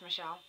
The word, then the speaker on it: Mishal: Her name is Michelle, or Michelle, because you spell it MishalMooreMusic, altogether. MishalMooreMusic, and that's on YouTube.